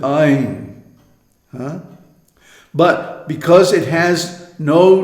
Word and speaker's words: ऐं: Ain. We have the English word I, which is pronounced almost identical with Ain.